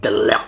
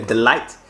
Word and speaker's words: de Ligt: sur les transferts delert on dit delert finalement moi je dis ça en anglais del light merci monsieur Carl donc le G se prononce a delert alors le Bayern exige